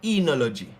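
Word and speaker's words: oenology: out for this combination because this combination is a slight chance that it will have words that sound like e. I think there's a word called enology.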